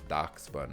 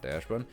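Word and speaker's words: Dachsbun: What I do like about Stellar Crown is that Darkspun, and that's pronounced Darkspun, not Dashbun, is holding at this 27, almost 30.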